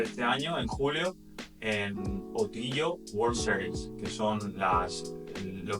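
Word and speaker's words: Ötillö: No sé si lo pronuncio bien, porque es una palabra, bueno, son varias palabras suecas, que sea O, Til, O. Entonces lo juntaron y le llamaron Otillo. Y Otillo es de isla en isla.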